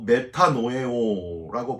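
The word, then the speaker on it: μετανοέω: 자복은 말로 하는 것이고 회개는 헬라어로 메타노에오라고 발음을 하는데 이 메타노에오는요.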